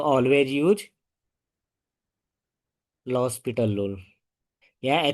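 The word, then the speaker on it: L'Hospital: अगर लिमिट रखने के बाद कोई भी चीज इस फॉर्म में आए या इनफिनिटी अप इनफिनिटी आए तो ऑलवेज यूज़ लॉस पिटल रूल। यहां h साइलेंट है।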